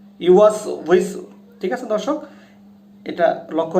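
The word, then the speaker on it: يُوَسْوِسُ: ইউওয়াসউইসু, ওয়াওটা উচ্চারণ হয় হচ্ছে 2 ঠোঁটের মাঝখান থেকে হালকা একটু ফাঁকা করে আমরা ওয়াওটা উচ্চারণ করি, ওয়াও, উই, উ। তাহলে দর্শক দেখুন উচ্চারণটা হবে কিরকম, ওয়াসউইসু, ওয়াসউইসু, ইউওয়াসউইসু, ইউওয়াসউইসু।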